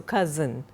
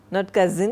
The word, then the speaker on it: cozen: it is pronounced as cozen or you know rhymes with does not.) तो, cozen, cousin नहीं, cozen a, ridicule, convince, flatter, chea.